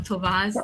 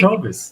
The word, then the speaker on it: Toves: I said it wrong, Tovaz. Toves. I Dang it, I said it knew I right. was going to say it wrong. Never fails. I'm sorry, Jesse. You got it right. You said Okay. Tovis.